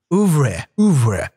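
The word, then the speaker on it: oeuvre: Ouvre. It's a French word. Ouvre. It's like Ouvre.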